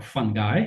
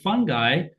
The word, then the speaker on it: fungi: And this is a intricate communication network in the soil where plants are partnering with fungi uh or fungi, whichever pronunciation you you prefer. And in partnering with fungi, plants are able to send signals to other plants uh through the root system.